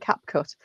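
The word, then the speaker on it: CapCut: Sounds like Cap Cut. That's exactly what it is. Except it's all one word. C A P C U T. all one word. If you do try Cap Cut, then can I recommend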